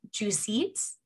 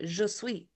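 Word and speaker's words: Jesuits: juice suits two seats spell it j e s u i t s it's like g suits like see canadian for french in me wants to say je sweet yeah i uh it's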